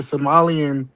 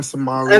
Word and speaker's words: Somali: history, it says the Somalian, especially the northern Somalian. And by the way, it's not Somali. It's Somali. It's Somali. Okay.